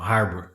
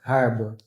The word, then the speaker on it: Harbor: Sim. Som de R mesmo. Harbor. Harbor.